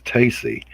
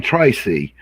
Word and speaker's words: Tacy: for people, which is it's Tracy without the R, it's Stacy without the S, it's Tacy.